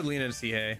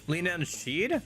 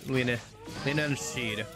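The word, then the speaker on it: Leanan Sidhe: Lean See instead of Archangel. Linan Sheeed. Oh, is that how that's pronounced?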